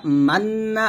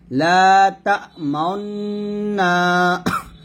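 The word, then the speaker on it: تأمنا: লা তা মান্না আছে, এখানে মান বলা যাবে না, বলতে হবে লা তা মাউন্না, মাউন মাউন মাউন মাউন, এরকম।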